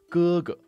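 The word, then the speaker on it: 哥哥: It's heavy, it's voiced, whereas the G in Chinese is more like the K in skill, skill, skill.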